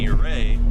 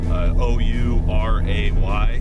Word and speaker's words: Ouray: And just like the town of Ouray, that's spelled very different, you know, for the how you pronounce it, O-U-R-A-Y.